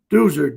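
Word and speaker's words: Deuser: You fill in the little oval and you write my name in, Doozer, D-E-U-S-E-R, 2 L's, because I'm a Catholic. The Protestants spell it with 1 L.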